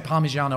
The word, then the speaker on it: Parmigiano: THEY'RE QUITE FAMOUS FOR having O's at the end of the word.